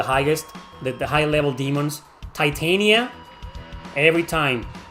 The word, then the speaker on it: Titania: It's pronounced Titania.